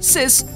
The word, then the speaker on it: CIS: yen worth of stocks cis pronounced sis means death in classical